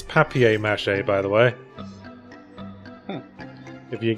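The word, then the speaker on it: papier-mâché: like some people in England referred which is paper mache yeah paper mache paper mache Vings it's papier-mache I'll just paper mash paper Matt yeah let's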